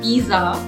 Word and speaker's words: pizza: it is not pizza it is not pizza it is pizza okay there is a slight t sound pizza okay can i unmute somebody